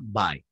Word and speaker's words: buy: en presente es Buy b u y Buy Okay y se pronuncia by okay Y en interrogativo